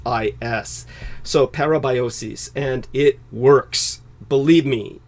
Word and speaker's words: parabiosis: Silicon Valley and uh their method of vampirism parabiosis would be the more technical term if you